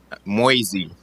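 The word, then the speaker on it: Moysey: yeah absolutely and your last name again sir moisey you know you got to spell that for me m-o-y-s-e-y okay um thank you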